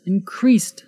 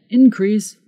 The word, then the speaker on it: increase: Did you see the difference in pronunciation? Increase is the verb. Increase is the noun.